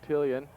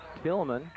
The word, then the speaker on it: Tillman: At the I-backs, number 3, Quincy Tillian. And he's hit hard by DJ Voklek again. And Garland Bryant. Go ahead. Excuse me, I was pronouncing his name wrong that last time. It's Quincy Tillman.